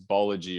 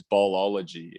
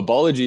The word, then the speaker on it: Bology: So just if someone were to ask, what is Bology, or sometimes we hear what is Ballology, and we say, I'm not sure where you're finding that extra syllable, the extra O, the extra L in there.